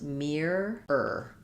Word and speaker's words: mirror: First syllable stress mirror. But we have a consonant to vowel linking here. So I don't really say mirror.